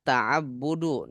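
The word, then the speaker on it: تعبد: semuanya saling ini hu taabbudu nah ini dibaca taabbud bentuk takabur tajassus taaddud apaagi tasyahud Nah jadi cara bacanya kayak gitu yang kata tengahnya di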